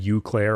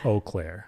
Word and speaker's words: Eau Claire: cuz people always pronounce it wrong. Like often people say Eau Claire or Eclair. Yeah, yeah, yeah. It's Eau Claire.